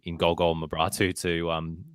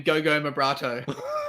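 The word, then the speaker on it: Golgol Mebrahtu: have huge faith in Golgol Mabratu to be the answer to the Roar's goal-scoring problems. So what did you say his name was? Because I'm pretty sure Bozza called him Go-Go Mabrato.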